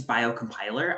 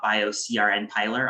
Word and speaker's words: biocompiler: the name so first you pronounce it bio compiler not bio crn piler although you could say that if you wanted to i suppose but